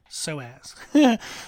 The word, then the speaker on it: psoas: psoas which is p-s-o-a-s so it starts with a P even though it's pronounced so as so there's no P there in the sound of it but the psoas muscle